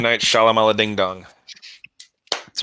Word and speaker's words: Shyamalan: Night Shyamalan Ding Dong. That's right. That's the Me and proper Chief pronunciation.